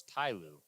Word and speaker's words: Ty Lue: That was T-Lue. Ty Lue. That was T-Lue. No, it's Ty Lue. I'm going to stick with T-Lue. No, it's Ty Lue. Say it right or don't say it at all.